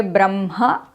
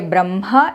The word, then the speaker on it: Brahma: directly say that you should say ma first and then ha. But he has indirectly told what is to be done in these cases. I can clearly see that when I say brahma, the ha comes from kaNthya and when I say bramha, it comes from the chest.